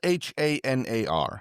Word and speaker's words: Hanar: Hanar is the species from Mass Effect that I It's spelled H A N A R.